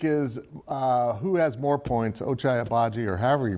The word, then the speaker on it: Ochai Agbaji: I will take Ochai Agbaji. That's how we learned is, I guess, the normal way to pronounce his name.